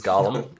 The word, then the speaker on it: Gollum: It is a golem. No, it is Gollum.